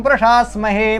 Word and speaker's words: प्रशास्महे: कभी कभी मैं भी सा गलत उच्चारित कर देता हूँ जल्दी जल्दी में, तो इसको आपको ध्यान रखना कि प्रशास्महे में ताला भी उच्चारण करना है।